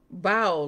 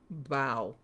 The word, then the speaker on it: bao: So, it says bao like bow, not like bow.